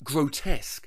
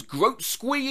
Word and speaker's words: grotesque: Grotesque. It came up one time watching a movie when I was younger, and I asked my friends, oh, what the hell is groat squee imagery?